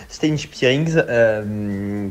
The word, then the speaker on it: Stijn Spierings: du mercato qui s'appelle Stijn Spierings. D'ailleurs, ça se prononce Stijn Spierings, qui a joué depuis son arrivée 3 matchs, qui joue en numéro 6 et qui a marqué 3 buts.